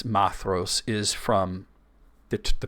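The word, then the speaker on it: Maedhros: h r o s you might think what madros it's actually maos so and the reason that we know it's mathos is from the the pronunciation guide that's at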